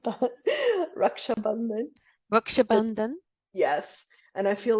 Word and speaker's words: Raksha Bandhan: if it's the proper term is, I think, Raksha Bandhan. This was Uh, what? So, so they again? Raksha Bandhan, and I Rakshabandhan. no, it's so totally not that. Raksha Bandhan.